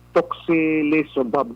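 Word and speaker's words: tocilizumab: Toxilizumab daw naman. Amo na. Toxilizumab. No, anyway. Ang pronunciation niya is toxilizumab.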